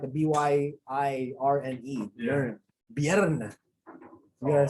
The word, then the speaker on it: Björn: The Nordic don't pronounce it that way. It's you've seen Viking? Yeah, actually, I tried getting into it. Björn. That's how you pronounce it.